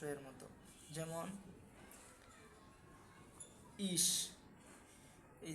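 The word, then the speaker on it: ich: যদি সে হা হয়, সে হা, তাহলে এর উচ্চারণ হবে স এর মতো, তাহলে স এর মতো। যেমন ইস, এই যে ইস, অর্থাৎ আমি বললাম ই এবং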